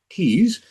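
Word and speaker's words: Tews: This episode is brought to you by my friend Val Tees. Tees is spelled T-E-W-S, but it sounds like, as I've been saying, tease.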